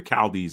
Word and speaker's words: Chaldees: He was Abraham of the Chaldees, or the Chaldees, if you want to pronounce it with that hard ch.